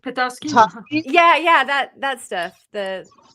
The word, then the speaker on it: Petoskey: Oh, is it like Petoskey? Tusky? Yeah, that stuff. The Petoskey.